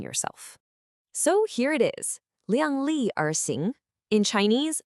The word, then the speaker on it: 量: The first character is liang, and it's pronounced liang.